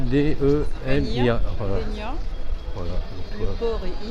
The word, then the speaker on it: Dénia: Bon, ça s'écrit D-E-N-I-A. Voilà. Dénia.